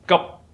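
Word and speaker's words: 急: The second character is ji, urgent, in Mandarin. But when it's pronounced in Cantonese or Middle Chinese, it's pronounced as gup.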